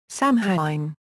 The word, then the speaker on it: Samhain: Samhain, pronounced S-A-H-W-I-N or S-O-W-I-N, was the first and